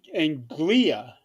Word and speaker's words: Anglia: But East Anglia. yeah, No kidding. I like that. yeah, very old name. Anglia. Anglia. No. It's East. It's like Angelia, but without the E.